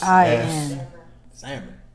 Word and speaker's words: Samhain: But it's pronounced Samhain. It's pronounced S-A space. Looks like Samhain.